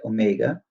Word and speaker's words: omega: the angular frequency by the way this is pronounced Omega the angular frequency Omega is equal to 2pi